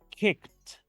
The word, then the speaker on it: kicked: como la letra T escuchen de nuevo Cómo digo kicked kicked fíjense que estoy pronunciando la terminación Ed como la letra T pero veamos otro ejemplo